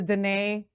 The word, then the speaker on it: Dene: blessings to you and to the Dene tribe.